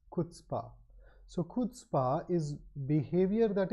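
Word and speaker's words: chutzpah: I used to pronounce incorrectly uh the correct pronunciation is kPa it's not CH chutzpa it's kspa so kPa is behavior that is EXT extremely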